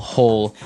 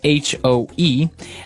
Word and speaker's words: hoe: If you want to make maybe a small hole in the ground, you would use a spade. And now our last tool has a kind of a funny spelling. It's h o e.